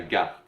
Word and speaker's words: garde: Il faut prononcer le R, il ne faut pas allonger le son précédent, comme on fait en anglais. C'est pas la garde, c'est la garde.